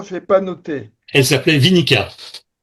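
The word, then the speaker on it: Winicka: Vous l'avez prononcé tout à l'heure rapidement, j'ai pas noté. Elle s'appelait Vinica. Vinica.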